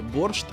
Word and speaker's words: борщ: цей обмін був двосторонній ціла Європа вимовляє борщ бо в'їдеші це слово читається Саме так упродовж своєї історії